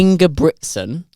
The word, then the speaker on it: Ingebrigtsen: Ingebrigtsen. There's a second G in there.